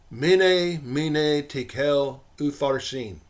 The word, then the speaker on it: Mene, Mene, Tekel, Upharsin: When we transcribe the 4 Aramaic words that Daniel read into their corresponding English letters, it looks like this, and is pronounced Mene, mene, tekel, upharsin.